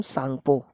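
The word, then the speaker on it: Tsangpo: ये टी से प्रोनाउंस होता है, लेकिन इसमें टी साइलेंट होता है आपका, ठीक है, क्योंकि आपको पता है चाइनीज़ और जो जैपनीज़ नेम होते हैं उनमें जैसे सुनामी है एक नाम है, ठीक है, लेकिन उसको हम ऐसे से पढ़ते हैं, तो स्पेलिंग पे मत जाइएगा, इसका प्रोनाउंसिएशन होगा सांगपो रिवर, ठीक है।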